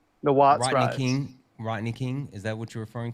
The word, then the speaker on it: Rodney King: During the Watney Ring, during the I'm saying it wrong. The riots in Los Angeles in the late 70s. Watts. The Watts Rodney riots. King. Rodney King.